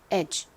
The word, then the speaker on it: edge: 실제 발음은요. D가 소리가 나지 않죠. 그리고 GE가 끝부분에 오기 때문에 바람 빠지듯이 소리 납니다. 그래서 edge, edge 이렇게 발음됩니다.